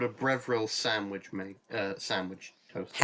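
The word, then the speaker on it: Breville: It's also called a brevril. It's called a what? A brevril, I think is how it's said. Breveril?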